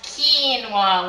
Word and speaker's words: quinoa: it's Q UI and Oh a and it's pronounced quinoa like ke and ke mlwa one of the